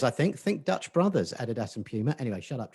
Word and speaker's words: Adidas: Adidas? I say Adidas, but that's Adidas. Because I'm from the 70s London. Adidas. Everybody else says Adidas.